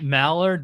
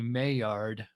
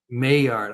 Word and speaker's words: Maillard: I know everybody pronounces it Mallard, but it's actually Maillard. Maillard.